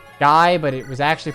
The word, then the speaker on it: Guy: I think it's Guy, but I could be wrong. That's how I was told it's pronounced.